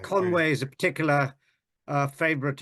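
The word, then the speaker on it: Conwy: will yes all right Conway is a particular uh favorite of mine yes I think it's a wonderful place Conway or Conway I should say con conwi how do you pronounce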